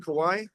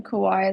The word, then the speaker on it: Kauai: did you do college out there in Kauai? Am I saying it right? It's Um, Kauai, or would you like would you say Kauai? no, yeah, Kauai is, yeah, it's like, yeah, Nice. Kauai is good.